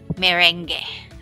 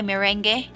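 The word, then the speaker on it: meringue: You maybe pronounce as merengue. Okay, when I was a kid, I usually buy this one. May I buy merengue? Okay, but it's actually pronounced as merengue.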